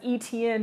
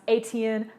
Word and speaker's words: Etienne: Plus, Clemson went up and they kept saying Travis Etienne, knowing good and doggone well that man is from Jennings. It is pronounced Etienne, like etouffee.